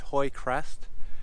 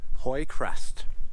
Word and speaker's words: Hoye Crest: This high point is kind of unique because it's named Hoy Crest. And for those of you who don't know, my last name is Hoy, spelled the same way, H O Y E.